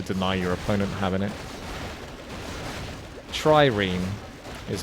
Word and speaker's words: trireme: a wonder to deny your opponent having it trireme is how it's pronounced trireme all right trireme good against heavy it's got fortified armor that's